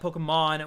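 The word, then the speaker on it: Pokémon: little bit riled up in latin america it's polka pokemon with a strong syllable being mon so i'm just saying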